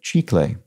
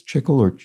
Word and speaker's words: chicle: only got trickled because it's the spanish word for gum pronounced like chi clay but after you mentioned chiclets i had a bang